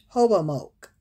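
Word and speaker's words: Hobomok: summer of 1621 master suite i think i'ma spell it for you m-a-s-s-a-s-o-i-t sent another indian hobo moak or hobo mock h-o-b-o-m-o-k to live among the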